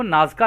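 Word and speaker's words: Nazca: शामिल है तो दोस्तों इंग्लिश में इनको नाज़ का लाइंस बोलते हैं यहां पे जो स्पेलिंग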